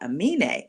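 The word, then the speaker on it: Aminé: Amine has a song called Mrs.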